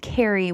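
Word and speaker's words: Kari: And there is something called Uride and there is something called Kary, which is spelled k a r i.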